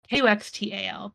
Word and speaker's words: Kuxtal: And I just finished a reread of Kuchtal Academy, I think is how you say it. Oh, nice. It's Kuxtal, but it's Mayan, so I think the X is a CH sound.